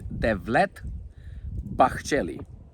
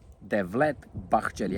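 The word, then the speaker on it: Devlet Bahçeli: His name is Devlet Bakelli. Delet Bachelli. I will spell it D E V L E T B A H C E L I.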